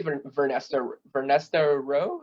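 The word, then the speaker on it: Vernestra Rwoh: if I had to pick the three, it actually has to be Vernesta Rowe. I think is that how you Yep.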